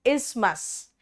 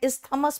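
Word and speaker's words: isthmus: इस्मस इस्मस बेटा इस्थ मत कहना। टी एच जो है ना ये साइलेंट है।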